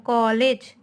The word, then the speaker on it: कॉलेज: जैसे हम लिखते हैं कॉलेज, ओ की मात्रा हम पढ़ते हैं ना उसमें ओ का उच्चारण होता है कॉलेज।